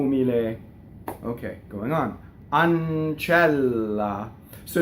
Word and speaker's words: ancella: on on chela so now you have a double n and a double L and only the Double L is printed but the N doubles because it goes into that consonant on channel okay Double L I